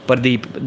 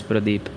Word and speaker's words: Pradeep: Pradeep. That's how we pronounce my name in my family, as Rana Bilal has written. But the actual pronunciation as it should be, it's Pradeep.